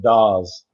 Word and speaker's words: Dawes: uh be talking to is it pronounced it's however you want to say it but yeah the family pronounces it does does okay awesome thanks for being here